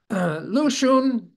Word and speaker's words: Lu Xun: Lu Xun was his pen name. The X in the alphabetical spelling is pronounced like SH.